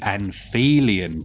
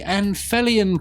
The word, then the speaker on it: Anphelion: Some people like to call it the Anphelion Project, but I think if it was pronounced like that, it would be spelt with an F.